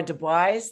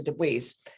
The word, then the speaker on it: deBuys: deBuys, the president of the Picture House. I said it right that time, right? Yes, thank you, deBuys.